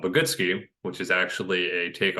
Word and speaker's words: Bogoodski: the website is called bogutski which is actually a take on my last name the way it's spelled people kind of struggle to um to interpret it so phonetically it's pronounced but goodski so I've sort of